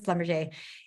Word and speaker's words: Schlumberger: Sorry, sometimes people pronounce that a certain way. It always makes me laugh, but it is Schlumberger.